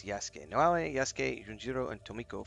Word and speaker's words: Yasuke: Is this Yasuke, but I always pronounce Yuk, but it's Yasuke.